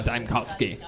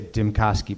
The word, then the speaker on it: Dimkoski: Yeah, Dimkoski. Did you I like the interfere- way you say my name. It's really like they say Dimkoski, but you say Dimkoski, which I think is probably technically correct.